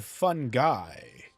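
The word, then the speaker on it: Fungi: I'm sorry, but his name is pronounced Mr. Fun Guy.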